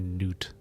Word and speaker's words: Nut: It's probably noot, not nut. I just see it and I think it's nut.